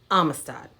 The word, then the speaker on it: Amistad: alright next up is Amistad alright listen to me um assad has three syllables ah myths Todd all right so listen again um miss Todd now you say it great